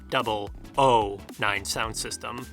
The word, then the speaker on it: 009 Sound System: double 9 sound system though and it is pronounced double o 9 sound system 009 sound system tracks for dreamscape for born